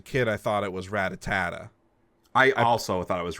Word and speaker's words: Rattata: wait we have to we have to decide on a pronunciation first because you're making me second guess R rata rata Rattata that's got to be correct yes it's Rattata but uh I'm putting